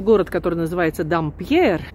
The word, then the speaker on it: Dampierre: Так что находится Auberge в городке небольшом, который называется Дампьер по-русски, Дампьер по-французски произносится.